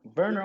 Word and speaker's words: Werner: Werner all day. Diego. I've been confirmed. It's pronounced Werner.